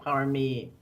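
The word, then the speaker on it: paramis: i don't say it wrong parliament in sanskrit power me okay p-a-r-a-m-i-s in poly which is the language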